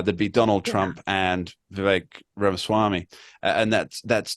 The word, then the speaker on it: Vivek: point earlier Lisa that Vivek rhymes with cake and many other words